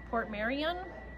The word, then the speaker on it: Portmeirion: She has this pattern of china, and it's, I'm going to pronounce it wrong, I'm sure, Port Marion.